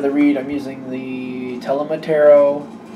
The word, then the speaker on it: Tarot: For the main part of the read, I'm using the Tarot. I believe the H is silent.